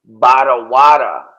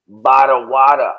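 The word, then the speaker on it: ברורה: The next word is Barawada. Barawada. We roll the R's like the Boricuas, or like I'm sure you roll your R's too, right?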